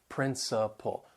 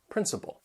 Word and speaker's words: principle: So they have three syllables. The stress is on the first syllable. That second and third syllable, you'll hear that schwah sound. Principle. Principle.